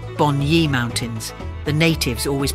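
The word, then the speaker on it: Bunya: Aborigines always met there before traveling to the bua mountains or to be correct Boni mountains the natives always pronounced it so of the Bon ye season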